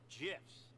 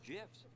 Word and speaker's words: GIF: It's an acronym. Acronym's pronunciation is determined by the creator of the said acronym, like a proper name. In this case, the creator of the graphics interchange format, Steve Wilhite, says it's GIFs.